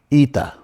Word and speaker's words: Eta: Eta looks like H, but it's actually a double E. Eta.